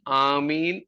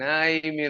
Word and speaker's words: ആമീൻ: ആയാലും ശരി ഹല്ലേലൂയ ഇതുപോലെ ആമീൻ എന്നതിന്റെ ഉച്ചാരണവും ഏതു ഭാഷയിൽ പറഞ്ഞാലും ആമീൻ എന്ന് തന്നെയാണ് എന്നാൽ നമുക്ക് ഒരു ഇംഗ്ലീഷ് ഭ്രമം കൂടിയിട്ട് ഐ ആമീൻ ഐമീൻ എന്നൊക്കെയാണ് പറയുന്നത് അത് വേണ്ട ആവശ്യമില്ല സായിപ്പ് പറഞ്ഞാൽ പോലും ആമീനെ പറയാവൂ അതിന് വേറൊരു ഉച്ചാരണം ഇല്ല ഓക്കേ അപ്പോൾ ഇവിടെ സത്യദൈവം